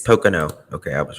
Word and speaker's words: Pocono: I want to know how to say it Pocono Mountain s Pocono okay I was right as for brutal murders